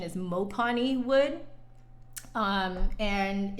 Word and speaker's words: mopane: lights on but it's uh i called it mopane wood but apparently the correct pronunciation is mopani wood um and it's the same wood that